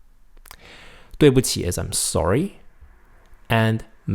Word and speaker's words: 对: Oh, I'm sorry, 对不起. Notice that 对对, D-U-I. It's pronounced 对. It's almost like D-W-A-Y.